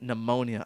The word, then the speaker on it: pneumonia: spelling dude I got pneumonia I should have known pneumonia had a silent pee dude I knew pneumonia